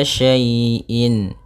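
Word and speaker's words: شَيْءٍ: Maka apabila ada huruf ya sukun didahului dengan harakat fathah, ini kita namakan dengan bacaan lin, yang mana ya dalam membacanya lembut.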